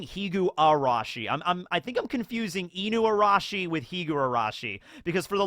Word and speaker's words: Inuarashi: I think I'm confusing Inuarashi with Higurashi, because for the longest time I would pronounce Inuarashi as just Inurashi, but Higurashi is not Higurashi, it's Higurashi.